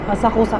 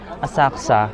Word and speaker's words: Asakusa: Asakusa.